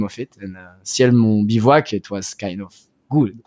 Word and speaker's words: bivouac: find a name of it, and Ciel Mon Bivouac, it was kind of good. So this is a good point to ask you about how exactly do you say the word, because in Hebrew, the word bivouac is something we use because there's no something